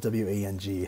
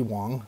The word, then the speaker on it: Wang: wrong way it's andy wong it's spelled w-a-n-g so i always thought it was andy wang but it's andy wong so that way that's